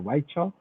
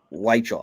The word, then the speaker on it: Weichel: have a hard time is it weekly or white shaw weichel i believe you would think i'd